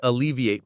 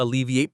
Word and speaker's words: alleviate: The stress is on the second syllable, L-E.